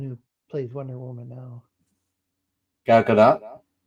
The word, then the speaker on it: Gal Gadot: Gal Gadot. There we go. I was calling her Gal Dukat.